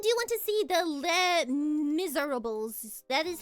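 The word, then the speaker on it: Les Misérables: I also do want to see the Les Miserables. That is how you pronounce it, yes.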